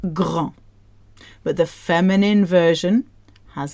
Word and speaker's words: grand: So the first one ends with a D. D is not in Frolic Barbecue. It's pronounced grand.